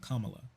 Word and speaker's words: Kamala: betting man oh and also her name is pronounced Kamala um I always get it wrong I'm sorry